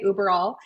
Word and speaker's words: Uberall: If I was able to pronounce it in German, it would mean everywhere, but us Americans just say Uberall.